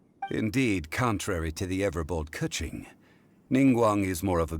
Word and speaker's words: Keqing: Oh, so it's keqing? So that's how you pronounce her name, actually.